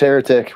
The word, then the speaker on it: Heretik: It's just Heretik with the K though. Okay. So because there's a lot of haunters, and even there's one at Hell's Gate that has the Heretik with the C.